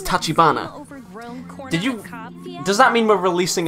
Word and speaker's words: Tachibana: For the longest time, I thought it was Sakia Tachibana, but no, it's Tachibana.